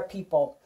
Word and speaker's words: people: sound of P awfully we are not P ah Polly we are people PE Oh ple what is in that